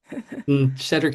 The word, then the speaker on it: Shedric: Gonna jump down to, is it Shedric? I should have announced or asked for all the name pronunciations ahead of time, but you guys can correct me when you introduce yourselves. Shedric is exactly right.